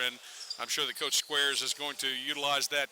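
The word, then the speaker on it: Skweres: It's spelled S K W E R E S and I went over for pronunciations and they told me it was pronounced squares. So as in squares, you know, one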